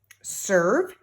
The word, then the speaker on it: serve: Dirt, serve. Serve also has the silent E.